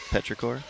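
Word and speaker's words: petrichor: Petraore. Petraore.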